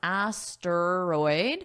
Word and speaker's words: asteroid: Notice there are three sounds, asteroid, but this middle sound is very fast.